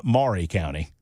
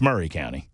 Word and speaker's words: Maury County: Number one is it's not Maury County. It's Murray County. It's Murray. We don't care how it's spelled.